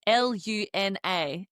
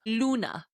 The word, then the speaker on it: Luna: And Luna is spelled L U N A, but we're pronouncing it Luna. Like as if it had a double O. That U makes that double O sound.